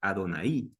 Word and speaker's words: Adonai: hablar de Dios y era adonaid un acento en la i Adonai significa el señor entonces